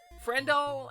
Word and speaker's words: Friendle: Friendle aka Kendall aka doll. Friendle best friend. So it rhymes with Kendall like like friendle like wordle like frenle is when